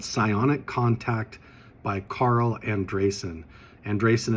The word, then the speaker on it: Andreasen: Andresen is spelled Andreasen, but look up Psionic Contact, Carl Crusher on Patreon to get a copy of the book today.